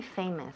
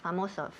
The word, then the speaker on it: famous: Famoso. Famous. Cuidado con la palabra famous, porque muchas veces oigo famos. Famos? Uy. No. Okay. We don't want to say famos.